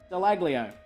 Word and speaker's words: Dallaglio: The G is silent. It's Dallaglio.